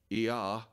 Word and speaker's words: Ea: and the sky god, Ea, pronounced the same way as the God of the Bible, of the first two letters of the Tetragrammaton, and Enki, or Enlil,